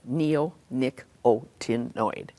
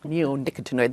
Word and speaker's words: neonicotinoid: Neonicotinoid. Neonicotinoid.